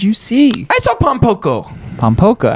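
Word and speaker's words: Pom Poko: Pompoko. Pompoko. See, 2 words. That's why I'm glad I asked that, because I thought it went P-A. It's P-O. Pom. Pom. Poco. Poko. Pompoco.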